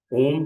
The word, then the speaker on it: ओम: चलिए, यहाँ से 30 सेकेंड्स हम और लेंगे और हम ओम का उच्चारण करेंगे। ओम के उच्चारण में अ, उ और म, तीन तरह की ध्वनियां उत्पन्न होती हैं।